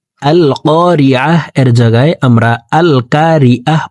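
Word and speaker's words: القارعة: হামজাহ লাম জবর আল, কফ আলিফ জবর ক, এখানে কা পড়া যাবে না। ক জিব্বার গোড়া তার বরাবর উপরের তালুর সঙ্গে লাগাইয়া কফ হরফকে উচ্চারণ করে পড়ব। আল ক, কফকে এক আলিফ টেনে পড়তে হবে, কারণ জবরের বাম পাশে খালি আলিফ, মদের হরফ ডান দিকের হরকতকে এক আলিফ টেনিয়া পড়িতে হয়।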